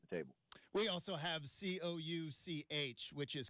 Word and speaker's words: Couch: We also have Couch, which is Cooch Street in Portland. So, yeah. No, exact. It was a man's name. We understand that. But, yeah, everybody's going to call it Couch until you correct him.